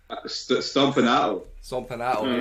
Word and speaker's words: Stompanato: How do you pronounce that? Stompanato.